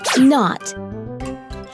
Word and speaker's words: knot: But I know there are some words that start with the letter K, but it is silent, almost as if you are not there.